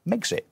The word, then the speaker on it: Megxit: to the States as Megxit, right. Which makes perfect sense. It rhymes with Brexit. It rhymes with Brexit. It's got the same number of syllables.